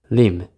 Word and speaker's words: limb: Limb. Limb. Be careful how to pronounce this word. We don't say the B sound.